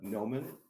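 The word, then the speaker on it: Gnomon: more school in there called uh nomen uh and no one is spelled g-n-o-m-e-n and uh they've been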